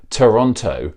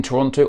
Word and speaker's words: Toronto: if you live in toronto or the greater toronto area the second t is never pronounced it's toronto there are